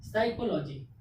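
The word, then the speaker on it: psychology: यानी कि इस वर्ड का उच्चारण करते समय, प्रोनाउंसिएशन करते समय पी का उच्चारण नहीं होना चाहिए, पी अक्षर का उच्चारण नहीं होना चाहिए। जैसे एस वाई क्या हुआ, SYCHOLOGY, साइकोलॉजी।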